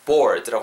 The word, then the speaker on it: bored: 약간 er 사운드, r 사운드 할때 약간 er water 할때이 느낌으로 er 느낌 넣어주시면 좋을 것 같아요. bored. 약간 트 이러면서 끝나는 거죠. ed 발음.